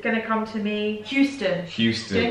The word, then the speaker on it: Houston: to come to me houston houston it's wrong isn't it it's it's i don't know we say houston and it's meant to be houston houston texas houston texas